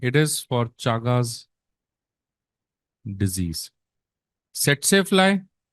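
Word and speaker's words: tsetse: सेट्से फ्लाई, इसको बेटा टीएससी लिखते हैं, पर इसको टसी टसी नहीं बोलना, इसको बोलते हैं एसईटीएससी। पहला टी इज साइलेंट।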